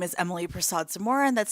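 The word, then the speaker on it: Persaud-Zamora: For the record, my name is Emily Prasad Samura, and that's spelled P E R S A U D-NE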